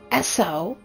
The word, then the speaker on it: ESO: Esso. It's spelled ESO, Esso lore.